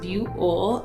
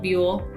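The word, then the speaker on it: Buhl: would know how to pronounce it but it's pronounced buole and it is um in twin falls county so it's a little town it's called buell in twin falls and that's on the eastern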